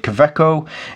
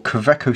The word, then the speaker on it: Kaweco: But knowing that it's a German company and the W is probably a V, then it would be a Kaweco. However you say it. So I'll just pronounce it Kaweco.